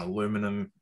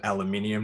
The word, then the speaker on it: aluminium: partnership with apple on aluminum in aluminium now i can say it properly that i'm back down